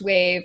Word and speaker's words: WEYV: So it's spelled WEYV. Yeah. Wave.